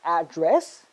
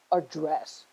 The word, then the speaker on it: address: But the tricky part is that it can be pronounced as address, and it can also be pronounced as address.